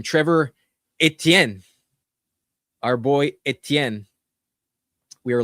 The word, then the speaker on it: Etienne: And then we also have Trevor Etienne who will uh steal the job if he needs to.